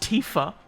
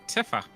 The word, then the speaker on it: Tifa: it's it's AI now it's pronounced Tifa fcking day we always call a tiffer and it was moo